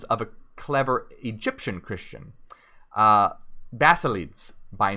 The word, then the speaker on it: Basilides: a clever Egyptian Christian, Basilides by name. And I have to look up the pronunciation of this, if it's Basilides or Basileides. Most likely it's Basileides, who claimed to have received his instruction from the Apostle Matthew.